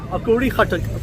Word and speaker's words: Akora Khattak: I'm at the Akora Khattak, say it properly, Akora Khattak bus station, where buses will arrive from the direction of Peshawar, which is that way.